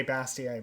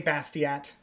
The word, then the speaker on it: Bastiat: kind of uh yeah i used to think it rhymed every day bastier but i was pronouncing his name wrong so everyday bastiat on twitter check it